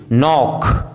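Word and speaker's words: knock: यदि किसी वर्ड में के एन साथ में हो तो के का उच्चारण साइलेंट होता है, जैसे नी, नॉब, knife, no, night, need, नॉक, निकर्स, knowledge.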